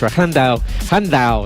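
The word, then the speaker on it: Llandow: We have Red Lodge in a few weeks' time, and then Llandau. Let's pronounce it in the Welsh. Llandau.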